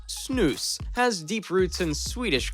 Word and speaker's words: Snus: cultural tradition from Sweden Snus pronounced snooze has deep roots in